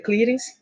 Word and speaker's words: clearance: Mas para se falar de uma forma mais correta, a pronúncia mais correta seria clearance, que pode ser chamado também de depuração.